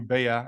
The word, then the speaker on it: Bea: something about you bear it's actually pronounced like the bug yeah or you don't